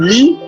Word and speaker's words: lit: Now we have the E as in lit. Lit is spelled L-I-T, and that is bed in French.